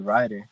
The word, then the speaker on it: Ryder: but I just wanted it to be riter and so like but people at school be like hey wrer the trilers I'm like no bro got my name wrong like it's rer I was like damn